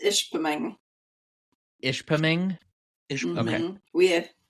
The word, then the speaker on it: Ishpeming: Michigan I hope I got that right it's Ishpeming ish ping ish we have we have clients